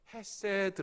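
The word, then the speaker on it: חסד: 이 긍휼은 히브리 말로 여러분 많이 들으셨을 텐데요 헤세드 라고 발음합니다 말합니다 이궁 율은 어떤 형편과 상황 속에서도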